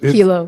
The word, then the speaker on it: Hilo: Hilo. Yeah, it looks that way. Got it. It looks that way, Hilo.